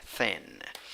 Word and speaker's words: thin: a relaxed a i how do you pronounce this thin fan it it is like a weak eye thin and number two four